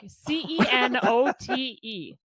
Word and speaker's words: cenote: ever pissed and look c-e-n-o-t-e it's a cenote that's how they pronounced it is it is